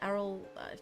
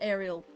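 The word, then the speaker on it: Aryll: Yeah, Arrol. I think that's how you pronounce him. I used to know I used to pronounce it Ariel.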